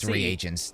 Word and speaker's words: reagents: supplements in b reagents it is pronounced three agents not a variety of